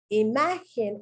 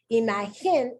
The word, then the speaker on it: imagen: Imagen is the correct pronunciation. Imagen is the incorrect pronunciation.